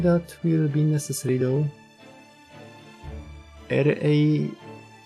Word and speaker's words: Rani: R-A-N-I, Rani. So you are taking our acronym and sounding it out phonetically as a word for our name.